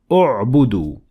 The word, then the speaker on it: اعبدوا: But when I started at it, I pronounced Hamzat Wasl and I added Dhamma on top of it because the third letter,